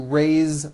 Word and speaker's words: raise: Raise, meaning like to raise my hand. Now this word is a bit unusual because even though it is spelled with an S, it's pronounced with a voiced Z.